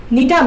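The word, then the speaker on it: Gnetum: একটা হচ্ছে নিটাম, নিটাম দেখো এখানে আমি জিটা উচ্চারণ করি নেই, তবে লেখার সময় জি আসবে, উচ্চারণ করার সময় জি বলবা না, বলবা নিটাম।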